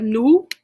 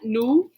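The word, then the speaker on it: nous: our plural we have nu nu so notice i don't pronounce the s at the end of that nu is we the whole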